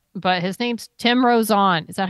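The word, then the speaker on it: Tim Rozon: of this guy or not but his name's Tim rosan is that how you say it Tim rosan yes Tim rosan Rosen he was on a show called wona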